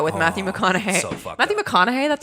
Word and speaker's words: McConaughey: movie killer Joe with Matthew McConaughey I think McConaughey that's how you say it right hey hey